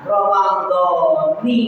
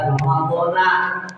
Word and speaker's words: Ramadhani: diidofatkan kepada lafaz hadhihi, maka Ramadhani dibacanya, bukan Ramadhana.